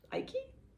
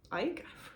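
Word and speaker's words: Icke: into David ik's work ikey Ike forget how you say his name I think it's just Ike um he does identify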